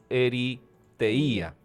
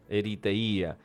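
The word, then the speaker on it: ἐριθεία: expresiones que nos habla Pablo es la palabra eriteía Cómo se escribe se escribe e r y t h e i A se escribe eriteía y ahí la encontramos y quiere decir literalmente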